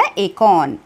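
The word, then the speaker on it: acorn: बोल सकते हैं और जिसका नाम है अकों इसमें और साइलेंट है जिसमें हम आर कर साउंड प्रोनाउंस नहीं कर सो लेट स रीड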